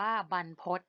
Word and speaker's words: บรรพต: นะ คะ คำ ว่า บรรพต อ่าน สะกด ว่า บ่ รอ หัน บ้าน พ่อ อก ต่อ พจน์ อ่าน ว่า บรรพต ที่ แปล ว่า ภู